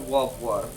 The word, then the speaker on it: Wobwo: it's just think of, you pronounce it like Rob Lowe, except like kind of like a baby talk or with W's. So Wobwo.